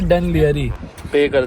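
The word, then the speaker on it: Dún Laoghaire: इसमें एक silent L है। इसे डुन लाओघायर कहा जाता है।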